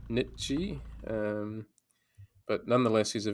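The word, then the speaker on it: Nietzsche: z c h e it's not the nii obviously it's uh Nichi um but nonetheless he's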